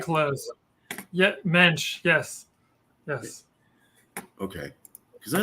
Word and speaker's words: Moench: for people to just think of the yish mench because helps people remember it better helps people pronounce it correctly it's a very hard name